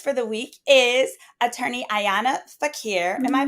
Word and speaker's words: Ayana: And then our new guest for the week is attorney Ayanna Fakir. Am I pronouncing it right, Ayanna?